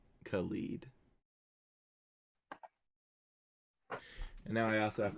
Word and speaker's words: Khalid: looking up the pronunciation yeah khalid khalid yes like k-u-h-l-e-e-d khalid and now i also